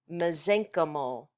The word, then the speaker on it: mesenchymal: a terrible word to spell but it it's pronounced mesenchymal those are the stem cells of connective tissue